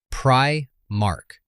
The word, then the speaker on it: primarch: The arch in primarch sounds like arc, not like the arch in architecture. Pry-mark. The previous generation of Vulkan content generated 32 documented complaint points across five separate pronunciation errors.